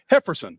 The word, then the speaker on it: Jefferson: and he's excited about jeffon quer I'm sorry hefferson Carol Carol hefferson with an H why y oh yff